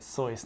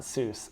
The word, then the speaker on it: Seuss: sois and that's how you say it sois not Seuss I know Tector sois